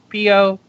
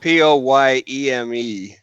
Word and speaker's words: poem: POEM. Oh. But Becky, it's they it's say endearing. I say it wrong. She pronounces it POYEME.